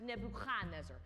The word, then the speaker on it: Nebuchadnezzar: Also, earlier you said Nebuchadnezzar. In Hebrew, it would be pronounced Nebuchadnezzar. More in the back of the throat.